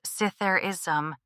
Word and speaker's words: Zitherism: Zitherism, pronounced Sitherism, entered the scene, meaning